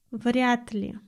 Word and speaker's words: вряд ли: Следующее слово, а точнее не слово, а два слова, вряд ли. Обратите внимание на произношение. Д мы произносим как Т.